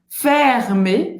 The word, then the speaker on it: fermé: Fermé, fermé. Le musée du Louvre é fermé. Le musée du Louvre é fermé. Então aqui a gente só tem o R, que é gutural, né?